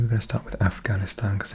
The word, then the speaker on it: Afghanistan: Okay, Afghanistan, or pronounced properly Afghanistan.